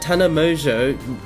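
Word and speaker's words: Tana Mongeau: Next up, we hear that Tana Mojo, that's how you pronounce it, made controversy again this week by simply saying, I love you to a friend.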